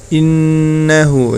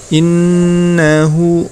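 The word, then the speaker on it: إِنَّهُ: Ya, di ayat yang ke-13 yang perlu diperhatikan, innahu, ya, di situ ada nun tasydid, ya, itu termasuk bacaan gunnah. Cara membacanya ditahan kemudian diperpanjang, ya. Innahu, kemudian hu-nya di situ dibaca panjang 2 harokat.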